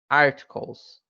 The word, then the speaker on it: articles: Articles. Ou, na verdade, você pode utilizar o som do R no T, então ficaria articles, articles, articles.